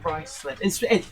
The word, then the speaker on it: Ruislip: Ruislip. It's spelled Ruislip.